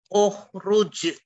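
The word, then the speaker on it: اخرج: Membacanya adalah hamzahnya di dhamma ukhruj.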